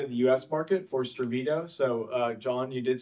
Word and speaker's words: Stravito: market for Stravito. So John, you did say that correctly. We're Swedish, so I think your pronunciation was right on there, Stravito.